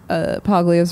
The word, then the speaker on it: Paglia: There was a great piece that I really should learn to pronounce Paglia's name correctly.